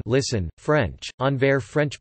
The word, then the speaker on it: Anvers: Antwerp, listen, Dutch, Antwerpen, Entarpie, N, listen, French, Anver, French pronunciation, V, S, is a city in Belgium, and is the capital of Antwerp province in Flanders.